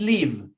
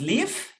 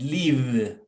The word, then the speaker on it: leave: sound how it sounds careful with leave because leaf is not with f is leave with b as a victor okay careful with that